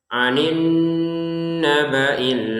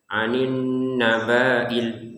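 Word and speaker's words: عن النبإ: Kemudian bnya ini pendek. Beberapa orang yang baca Quran di ayat kedua surat Annaba ini membacanya panjang. Anin nabail. Nah, ini pentingnya belajar agar ini pendek ya. Anin nabil begitu ya anin nabailim.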